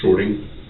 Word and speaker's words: Shortey: Shorty. Spell it for me.